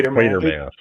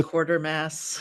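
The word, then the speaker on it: Quatermass: do you pronounce that quer quer mass quer mass no it's quarter Mass no okay in trouble now sorry Eli that means you're in you got to say quarter Mass well the quarter quater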